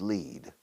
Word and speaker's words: lead: The infinitive is lead. Como líder, un líder. Lead. Lead. Y se pronuncia lead.